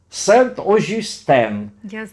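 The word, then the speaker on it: Saint-Augustin: И он помянул Сент-Ожюстен, так как это произносит француз.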